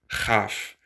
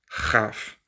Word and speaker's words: כ: to the third one, which is chaf. So chaf is a like bring up phlegm. So again, the second one, het, is now mostly pronounced by most people, the same as the third, chaf.